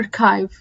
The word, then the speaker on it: archive: طبعا احلى كلمة ارشيف بتتقال اوكي هي اسمها archive.